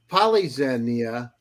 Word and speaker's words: Polyxenia: And it's with great honor that I have an incredible guest, Polyxenia, right? Is that the Greek That's pronunciation?